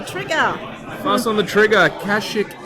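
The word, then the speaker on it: Kashyyyk: Kashik is correct. Is that how you pronounce it? Yes, cash. There we go.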